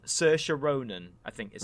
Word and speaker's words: Saoirse Ronan: In this case, in America, and it's a very simple film, but just I'm going to get a name wrong. Saoirse Ronan, I think is how you say it.